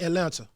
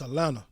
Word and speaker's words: Atlanta: down here too like it's not atlanta okay it's atlanta i'm taking the cheese out and no teas in it so listen if you wanna know how to say it how we say it just take all the teas out atlanta you know what i'm